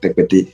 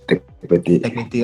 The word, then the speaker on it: Tekpetey: But give me the pronunciation first. You continue. Okay, it's Bernard Tekpetey. Tekpetey.